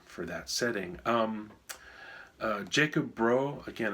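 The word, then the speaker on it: Jakob Bro: that setting um uh Jacob bro again I'm probably saying it wrong I think it maybe more like yakob Bru or something anyway he's Danish uh he made a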